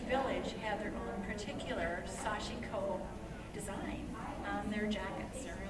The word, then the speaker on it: Sashiko: And Sashiko could be pronounced Sashiko, but I was told by a Japanese person it was Sashiko. So that's how I pronounce it.